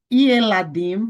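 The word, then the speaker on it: ילדים: um shivá simples Beleza agora perceba que aqui ó yeladim você pronuncia o shivá tá shivá no início da palavra ele será sempre vocálico Então tá aqui ó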